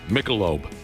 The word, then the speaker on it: Michelob: Yesterday we talked about how he couldn't pronounce Michelob.